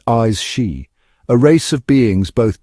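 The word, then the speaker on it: Aos Sí: In the heart of the Celtic otherworld, veiled from ordinary sight, dwell the AE seed, pronounced eyes she, a race of beings,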